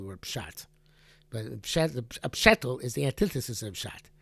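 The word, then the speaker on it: פשטל: But a pshetel is the antithesis of pshat.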